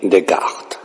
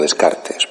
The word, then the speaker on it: Descartes: la filosofía moderna avn de cart más conocido en español como descartes pero no utilizaremos la vieja pronunciación sino la pronunciación francesa bien sobre este pensador